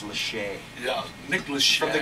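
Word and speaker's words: Lachey: Nicolas is 39 yeah I always thought he pronounced his last name Lackey but apparently it's Le yeah Nick Le from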